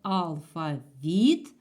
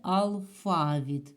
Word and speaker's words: алфавіт: це слово дуже хитра В ньому можна визначати наголос в двох варіантах можна сказати алфавіт А можна сказати алффа від буде і так і так правильно Отже в цьому слові